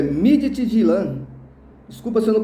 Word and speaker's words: Midtjylland: O Midtjylland Desculpa, é Midtjylland. Desculpa se eu não pronunciei corretamente.